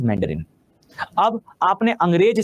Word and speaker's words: मंदारिन: तो जब मैं अंग्रेजी में इस भाषा का नाम लेता हूं तो मैं अपनी भाषा को मेंडरिन कहता हूं। तो राइट वन इज मेंडरिन।